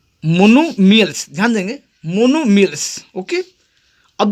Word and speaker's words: monomials: ठीक है, यानी ये आपका छुप जाता है इसमें, इसलिए सिर्फ लिखा जाता है मोनोमियल्स।